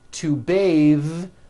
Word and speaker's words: bathe: The word bath is a noun with an unvoiced TH. Bath. But when you change it into a verb, to bathe, the vowel changes to an A sound and the TH is voiced.